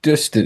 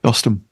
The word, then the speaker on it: Dostum: When Dustin, is it Dustin? I keep saying it wrong. What is it? Dostum.